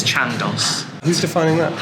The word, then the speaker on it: Chandos: to a pub that you don't have to pronounce the name of. It's not The Chandos. like Nando's, it's Chandos.